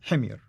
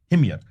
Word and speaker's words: Himyar: Well, how do you pronounce it? Himyar. Himyar.